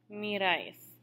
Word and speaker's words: miráis: Vosotros, miráis. Accent on the A.